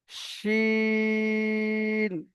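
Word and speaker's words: شين: তো এই হাঁস বলার শেষে যেটা উচ্চারণ হচ্ছে হাঁস, এই উচ্চারণটা এখানে হবে শিন, শিন।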